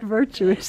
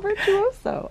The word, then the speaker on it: Virtuoso: Not virtuous. It looks like virtuoso.